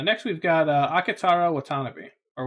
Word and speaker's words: Watanabe: you say that surname I always hear like Ken Watanabe the actor's voice name pronounced that way Watanabe so I'm just gonna go with that okay he is an